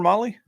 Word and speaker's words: Mahle: And for those podcast listeners, Molly is spelled Mahle.